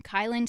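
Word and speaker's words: Kielyn: Kylin. Go ahead and spell that for audience because I know it's Yeah.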